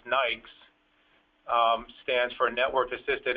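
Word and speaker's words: NAICS: then um something called NAIC uh that they pronounce Nikes um stands for Network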